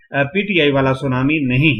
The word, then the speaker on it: tsunami: यानी कि सुनामी जो है वो लफ्ज है जापानी जुबान का और जापानी जुबान में TSU सु टी साइलेंट है।